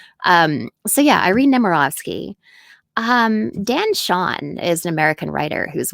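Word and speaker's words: Chaon: Dan Shawn is an American writer whose work I really admire.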